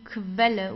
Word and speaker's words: Quelle: Then we have QU, die Quelle. Whenever you have a Q and U together, you pronounce it as Kv, like a K and W together, like German W. Kv.